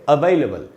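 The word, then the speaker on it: available: यहाँ लिखा है मैंने उच्चारण, इसका आधा अ का साउंड है पहले।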